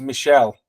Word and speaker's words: Michelle: And it's pronounced Michelle.